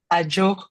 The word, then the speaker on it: Adzo: her name it's a joke media so I like because in In DZ is pronounced like a J because they don't have the J letter.